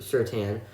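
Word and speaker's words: Surtain: certain out of alabama i believe it's pronounced certain um his father played in the league it was pronounced like that i don't think it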